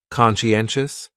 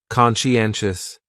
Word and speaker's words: conscientious: going on there so conscientious has four syllables and the stress is on that third syllable n conscientious conscientious that second syllable is what really confuses people because that Sai almost sounds like you're saying she conscientious conscientious someone who